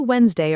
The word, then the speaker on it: Wednesday: I'll see you Wednesday around noon. Say that conversation yourself now, both parts, and every time Wednesday comes up, keep it at 2 smooth syllables. Wednesday. No extra sound hiding in the middle.